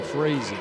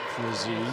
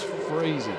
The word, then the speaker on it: Frazee: on Perkins and Juliana Frazee I should say freezing not frizzy it's freezing assistant coach Meadows told me the other day it just reminds me rhymes with a crazy crazy sounds